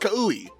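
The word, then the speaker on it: Kaue: So I did the usual, oh, it's pronounced Ka-U-E.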